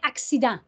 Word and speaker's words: accident: comme ça c'est que dans le mot accident la première syllabe c'est hack la deuxième c'est ici qu'ensuite c'est dans donc ça suit les règles si le c est enfin de syllabes dans une lave fermée ça fait que si le c est devant le i ça fait c'est la règle du Sea doux c'est pour ça que ça fait accident si j'avais le mot